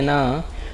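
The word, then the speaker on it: know: Confuse करता है कि जब भी K और N आपको एक साथ दिखे ना, तो यहाँ पे K आपका साइलेंट होता है, इसका साउंड नहीं आता।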